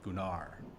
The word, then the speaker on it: Gunnar: first time we met it's actually pronounced in denmark gunnar oh just gunners the